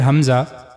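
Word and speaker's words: ء: The next letter, Hamza. The origin of this letter is similar to the previous letter H. Hamza, the lowest part of the throat.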